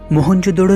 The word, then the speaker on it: मोहनजोदड़ो: मोहनजोदड़ो शब्द का सही उच्चारण है मोहन जोदड़ो और सिंधी भाषा में